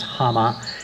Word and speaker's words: Hama: Her name was Hama. It's a Japanese name, and it's spelled H-A-M-A.